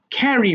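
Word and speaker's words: carry: এই ক এর উচ্চারণটা ভালো করার জন্য এই নিচে কিছু ক এর মত সাউন্ড দিয়েছি। তাহলে খ্যারি বহন করা।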